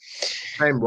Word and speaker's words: Sheinbaum: Siempre el apellido se me dificulta pronunciarlo, Sheinbaum.